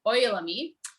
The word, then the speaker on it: Ojalammi: the oil me so the j is pronounced as a y but i won't speak